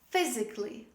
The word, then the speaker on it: physically: physically don't say physically don't pronounce the letter a say physically physically the next example